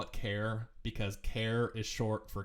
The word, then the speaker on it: char: it short for and in this case that's why I call it care just like I call int integer rather than like ain't or something like that it's integer so that's why I call this care anyway so a care